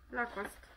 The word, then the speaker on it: Lacoste: No raczej bez E. Lacoste.